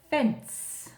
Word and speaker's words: fence: Next one I put in for a new word was fence. It's a little bit tricky. This C, soft C sound. It says an S sound. Fence.